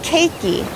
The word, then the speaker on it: keiki: and so the hawaiian word for children is keiki it's k-e-i-k-i keiki so to all of the keiki in